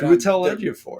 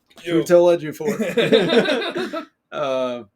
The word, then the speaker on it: Chiwetel Ejiofor: I'm glad you took the bullet of trying to pronounce that name right. Chiwetel Ejiofor.